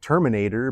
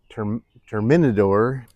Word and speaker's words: Terminador: I think he's pronounced it Terminator, but it's Terminador.